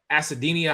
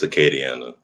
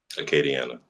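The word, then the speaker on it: Acadiana: Standout defensive player at Acadinia High School. Did I say that right? Um, it's Aadiana.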